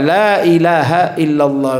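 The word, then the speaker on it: لا إله إلا الله: Bacanya dibaca lamnya agak panjang. Dibedakan dengan lam yang kedua, la ilaha illallah. Pokoknya lai agak panjang, berbeda dengan lam yang kedua waktu ilaha.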